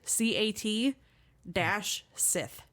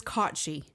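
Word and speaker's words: Cat Sìth: Which, if you look at the spelling of it, it is literally cat, CAT, -sith, SITH. And my dumbass read it as cat-sith the entire time. So just people that pronounce Owen as Sam Hain, kind of basic. I really whited it down. Yeah. But it is CAUGHT-SHEE.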